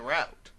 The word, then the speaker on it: route: If I say I'm on my way somewhere, I'll say I'm en route. But when I'm talking about a specific road, like Route 100, I say route.